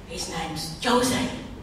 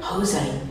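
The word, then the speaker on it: José: staying with my friend Jose yeah you don't pronounce j with a J you're going to say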